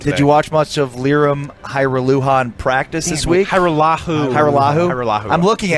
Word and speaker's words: Lirim Hajrullahu: Lirim Hajrullahu. Yeah. Lirim Hajrullahu. That's wonderful. Hey, Broaddus has it. Isolate that for me, Zero. Oh, yeah, because it continued. Did you watch much of Lirim Hajrullahu in practice this week?